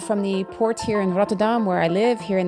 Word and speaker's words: Rotterdam: Just like here, I live in the Netherlands, I live in Rotterdam, is the way most English-speaking people pronounce it. It's actually Rotterdam.